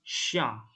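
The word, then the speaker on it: chien: Tapi ini cara bacanya sha dan xian. Sha itu kucing, xian itu anjing. Sha ya. Jadi C dan H, C dan H itu cara bacanya sh, sha sama xian.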